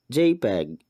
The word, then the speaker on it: JPEG: are three commonly used types of picture files jpeg ping and gif pictures can be identified by